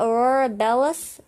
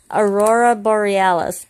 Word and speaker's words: Aurora Borealis: Aurora Bellis? Aurora, how do you say that, Daddy? Aurora, what? No, how did you say it? Yeah, but how do you say it? You just said it. Aurora Borealis.